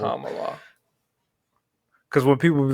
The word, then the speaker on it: Kamala: name and I'm like no it's Cala think of calm down Cala calm just tell that to people Kamala cuz when people be like Kamala I'm like no no it's Kamala I thinka Kamala and